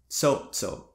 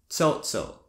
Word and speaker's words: cho'cho': However, if you add the glotas to tsotso, you would get tsotso. Did you hear it? Did you hear the split second stops? Tsotso, by the way, means to work. So the pronunciation of the glota can mean the difference between saying I want to eat versus I want to work.